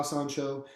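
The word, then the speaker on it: San Shou: So like the San Show that you fought in. You're right. So if am I saying it right? Yeah, San Da, San Show.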